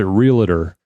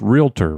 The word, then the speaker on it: realtor: It doesn't, but it's like Well, well, a lot of people pronounce it realer, but it's realtor, right?